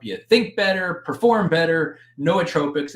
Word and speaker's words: nootropics: think better perform better no tropics it's actually where you pronounce it nootropics however you want to pronounce it it's n-o-o-t-r-o-p-i-c-s but it's kind of a cool